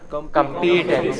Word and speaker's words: competence: Competence. No. The first part is stressed. What is it? Competence. Competence. What is it? Competence. Open your mouth full and then close it slowly.